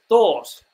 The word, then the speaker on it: thought: lot of words like thought which has like a GH in there that's not pronounced silent GH and I think that